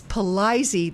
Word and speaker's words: Palizi: They said, hi, Kim, I've lived in Brighton, the Brighton area for years, and I always heard the name pronounced with a long I and a long E. So Palizi Farms.